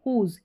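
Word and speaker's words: whose: हर करके जैसे हु होल हुज। क्यों? क्योंकि यहां पर डब्ल्यू जो है वो साइलेंट है।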